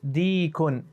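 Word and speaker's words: ديك: And make a long E sound. Deekun. Dalika dikkun.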